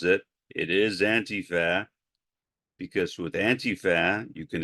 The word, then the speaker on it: antifa: to focus on the subject of antifa not antifa as Donald Trump pronounces it it is antifa because with antifa you can extend it it's